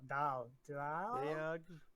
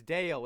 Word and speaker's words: Dale: Dayog. It's Dale. It's spelled like Bale, but you know, with a D.